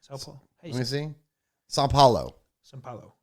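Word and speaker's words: São Paulo: this one's live and how did you say saint paul how do you say it sao paulo okay all right me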